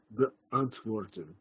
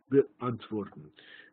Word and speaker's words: beantworten: is to answer someone, but it is a moment of silence between the first and the second syllable, beantworten, beantworten.